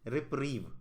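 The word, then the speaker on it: reprieve: इसका correct pronunciation है रिप्रीव, ठीक है।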